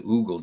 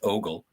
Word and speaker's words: ogle: You're not supposed to oogle, gentlemen. Actually, if Tiger Stripes were here, she would say it's pronounced ogle. But it's ogle.